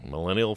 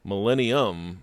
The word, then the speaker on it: Millennium: Did I say it right? Millennial Falcon. Millennial. I have trouble with that. I want to put the M on it. I think it is Millennials are those kids. Yes. Millennium Okay.